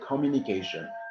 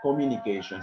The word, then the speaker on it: communication: in the first syllable for example you say communication communication so the first syllable which is co they is the emphasis okay as you know